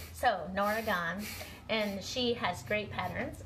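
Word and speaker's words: Norah Gaughan: I've been calling her Nora Gogan, and they said the G is silent. So Nora Gahn, and she has great patterns, and I really enjoyed doing this project.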